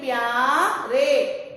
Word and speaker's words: प्यारे: अगला, इसमें भी आधा वर्ण है, इसके साथ इसको मिला के बोलेंगे प्यारे, प्यारे।